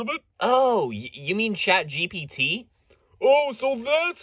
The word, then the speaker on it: ChatGPT: maybe you've heard of it Oh you mean chat GPT oh so that's how you pronounce it man that makes so much more